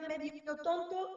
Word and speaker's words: medio tonto: tú dices tonto, perdón, si tú dices medio, parece que el golpe de voz va en la E, tú dices medio, pero si dices medio tonto, el golpe de voz ya no va en la E, va en la primera O de tonto.